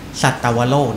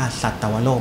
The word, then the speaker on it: สัตวโลก: นะ ครับ นี่ คือ สัตวโลก นะ ครับ ต้อง อ่าน ว่า สัตวโลก ไม่ ใช่ สัตว์ โลก นะ ครับ คำ นี้ อีก